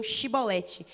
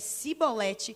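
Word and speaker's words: shibboleth: E se declarasse não, eles ordenavam, digam Shibolete. E se a pessoa dissesse Sibolete, sem conseguir pronunciar a palavra, prendiam essa pessoa e matavam na passagem do Jordão.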